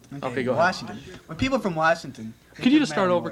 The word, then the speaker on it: Washington: often here at school it's washington and not washington washington okay and let's see what's the spelling for that w-a-s-h right there's no r okay washington when people from washington could you just start